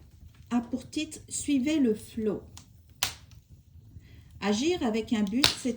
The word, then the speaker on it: flow: Je le prononce probablement mal. Moi, mon accent en anglais, il est il est très mauvais. C'est flow.